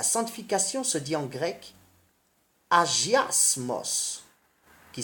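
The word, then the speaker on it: ἁγιασμός: La sanctification se dit en grec agiasmos, qui s'écrit H-A-G-I-A-S-M-A-S, et qui veut dire consécration du cœur.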